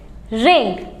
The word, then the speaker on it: wring: अब नेक्स्ट आ गया WRING, और इसको आप क्या पढ़ोगे, रिंग। नाइस। सो साइलेंट वर्ड्स बिल्कुल ख़त्म।